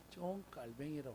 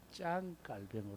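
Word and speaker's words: 장 칼뱅: 깔뱅이 이렇게 했고 했더니 목사님 존 깔뱅이라고 하면 발음이 무식한 발음입니다 짱 깔뱅 해야 됩니다 이런 것으로부터 제가요 은퇴하는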